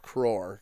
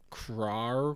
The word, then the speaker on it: crore: say it because yeah it looks like craw craw crore roar yeah it's like when